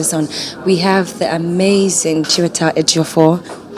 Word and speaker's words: Chiwetel: I mean, yes, CHIWETEL is the pronunciation of my name.